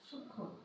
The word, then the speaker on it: সূক্ষ্ম: যেমন দেখো সূক্ষ্ম, যেমন দেখো সূক্ষ্ম। অনুরূপভাবে তুমি দেখো আরো আছে যক্ষা, সূক্ষ্ম যক্ষা। যুক্ত ব্যঞ্জন বর্ণ, হিও একটা যুক্ত ব্যঞ্জন, তার সঙ্গে যদি ম ফলা যুক্ত হয় তাহলে সে ম ফলার উচ্চারণ হয় না।